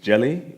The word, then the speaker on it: Djèlí: And then the middle name, Djèlí, the D is silent, so it's just Djèlí, and a Djèlí is a West African storyteller.